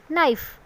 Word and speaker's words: knife: हैं knob, no, and knife. These are letters that you can see but don't say. These are silent letters.